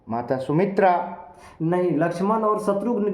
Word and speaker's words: शत्रुघ्न: शुद्ध उच्चारण शत्रुघ्न होता है। शत्रुघ्न, जी।